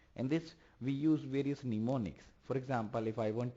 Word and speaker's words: mnemonics: So which word is used or which keyword is used, that is a mnemonics. The spelling is MNEMONICS. There is a starting character, that is a M, but that is silent.